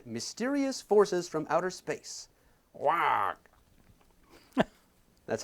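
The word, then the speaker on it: Waugh: Wag. That's how I pronounce W-A-U-G-H. Wag.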